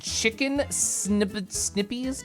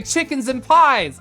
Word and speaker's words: Chickens and Pies: Oh, sorry, Chickens and Pies. I got it. I thought it was like Snips or Snipes. It's Chickens and Pies 1.